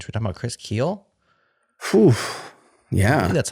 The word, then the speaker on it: Kiehl: changing our mind should we talk about Chris Keel yeah May that's how you say his name